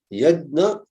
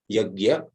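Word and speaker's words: Yajna: Yedna or as some people pronounce it in the north especially yagya.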